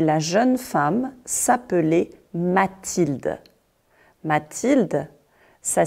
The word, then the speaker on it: Mathilde: Mathilde, ça s'écrit M-A-T-H-I-L-D-E.